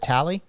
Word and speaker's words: Talley: for Jacob tally and that's how you pronunciate your last name right is it tally y that's correct yes sir see I knew I